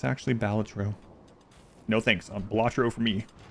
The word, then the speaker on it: Balatro: Everyone's pronouncing it wrong. It's actually Balatro.